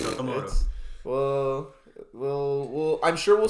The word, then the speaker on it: Okamoto: Okamoto? Yeah. Yep. It's Okamoto.